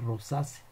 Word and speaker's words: Rosaceae: y se debe pronunciar rosas aunque se escribe rosaceae nos haya usados con